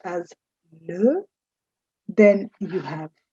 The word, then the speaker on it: les: The first is L-E, that's pronounced as le. Then you have L-A or la, that is used for feminine singular. You have L-E-S, which is pronounced le, used before masculine or feminine plurals.